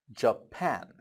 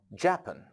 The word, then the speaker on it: Japan: third country it is Japan Japan it is not japen it is Japan why because the stress is on the P it is Japan it is on the pan now let's come to